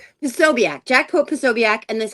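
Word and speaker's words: Posobiec: Po Pobiac. Pobiac.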